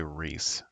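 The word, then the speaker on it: Rhys: It's Rays, right? Or Rise? I thought Rays. it was Reese. I thought it was Is it pronounced Reese? Reese.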